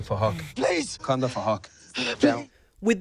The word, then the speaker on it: Phuc: His name is Phuc, but spelled with a PH, so it sounds like Phuc.